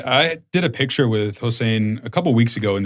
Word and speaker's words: Hossein: But, uh Ensan uh is How do I pronounce his first name? Hossein.